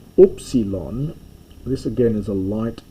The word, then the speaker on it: upsilon: an U sound, and by Koine Greek times it comes to be pronounced like I, unfortunately. It's moving towards, in modern Greek, a lot of the vowels have become I sounds, and upsilon, U, has moved more